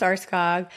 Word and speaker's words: Aarskaug: Uh, it's uh, Arscog, pronounced arskog, and I am Norwegian, but I am also a little bit German myself.